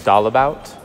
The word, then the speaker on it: Dalebout: to church here 's I've been pronouncing my name wrong it's all about our our family is doll about um and we're obviously